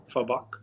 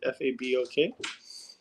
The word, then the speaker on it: Fabok: I think it's Fabok. That's how you pronounce it. Fabok.